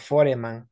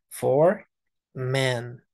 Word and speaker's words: foreman: for men es esa e no se pronuncia no decimos foreman no for men for men for men